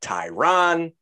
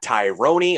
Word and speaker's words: Tyron: His name is Tyron Woodley. It's not Tyrone. It's not Tyron. It's not Tyrone, or however else you want to fuck it up. It's Tyron Woodley.